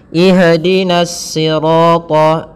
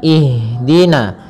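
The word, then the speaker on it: اهدنا: mengalirnya nafas kita maka jangan sampai huruf Ha ini memantul misalkan ihin akan tetapi alirkan nafasnya ihdina ihdina ihdina ya dengan aliran jangan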